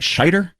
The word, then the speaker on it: Scheider: I always say his name wrong. It's not Schneider, right? Scheider? Is that how you're supposed to pronounce that?